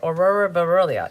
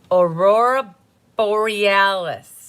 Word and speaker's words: Aurora Borealis: And you have your Aurora Burellia in the inside. No, I know how to say it now. Aurora Borealis.